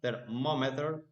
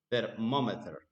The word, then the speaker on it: thermometer: And the last one, thermometer. The second syllable is stress. thermometer.